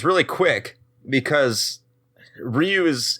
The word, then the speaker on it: Ryu: it's word for Dragon so it's not Rou because you do need the Y and that's why it's there but it because the